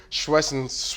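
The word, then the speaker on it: Schwesinger: Carson Swinger. Okay. Carson Schwessinger.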